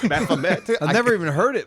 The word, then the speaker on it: Baphomet: I always pronounced it Baphomet. It's Baphomet.